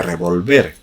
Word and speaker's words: revolver: ejemplos por poner algunos no es lo mismo revólver con tilde lado que es un arma que revolver la misma palabra pero sin tilde ya pronunciado de forma de aguda que significa remover tampoco